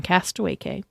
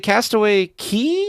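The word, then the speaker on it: Castaway Cay: remind me is it Castaway Key oh I don't Cast Away keyse pronounced key which is funny because it says it looks like it's K yeah Castaway key so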